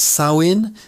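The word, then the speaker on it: Samhain: Pronounced Sawin.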